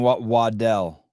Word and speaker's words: Waddell: Travis Beijing cards uh he had to explain to me how to say his own name because I used to call him Brandon waddle and he's like no it's Waddell uh seven it's McAfee